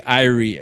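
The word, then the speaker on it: irie: And when we say iie in the Caribbean, meaning good vibes, you know, not eerie, although it I believe it's spelled the same.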